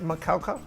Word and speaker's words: Macaulay: And its name is pronounced Macaulay. Cow.